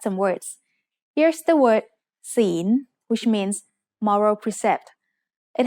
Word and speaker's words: ศีล: ศีล is said with a rising tone because it has a high-class consonant with a live syllable ending.